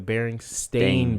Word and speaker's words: Berenstain: Let me say it correctly, because it's the Berenstain Bears. Like Stain.